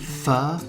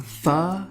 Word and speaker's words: pho: Okay, so I'm making pho. It's spelled P-H-O. People call it pho. People call it foo. People call it pho. But I believe the correct pronunciation is pho.